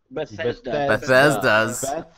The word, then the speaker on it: Bethesda: Bethesda's. But I'm not Beth? sure. But Hold on, let's stop. Everybody stop talking. We are going to have a pronunciation class right now. It is spelled Bethesda. Bethesda.